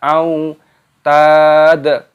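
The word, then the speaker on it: أوتاد: Wa fir'auna dzil lam alifnya dimatikan dibaca dzil au wawu sukun dibaca au tad au tad taknya dipanjangkan ada tanda alifnya mad tabi'i 2 ketukan dan di sini huruf dalnya dimatikan dan diqalqalah dipantulkan suaranya.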